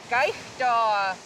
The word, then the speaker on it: kaigtua: Gaishda.